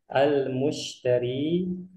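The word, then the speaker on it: المشتري: Baik, di sini sebelumnya ada percakapan antara al-mushtari, sekali lagi cara bacanya al-mushtari dengan al-bai'u.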